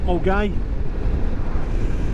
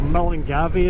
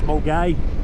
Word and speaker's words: Milngavie: Yeah, so yeah, Milgai, or Milngavie as the English like to call it, or anybody who can't speak Scottish. Milngavie, it's Milgai. Yep, so.